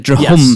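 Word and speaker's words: Drhum: Drum Club, by the way, Hunter. The Drahum. Yes. The Drahum Club is how it's spelled.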